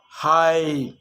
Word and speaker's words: hide: Hop, hope, sit, side, hit, hide, slid, slide. So see how the E at the end, although it's not pronounced, it's affecting the vowel sound before it. It makes it longer.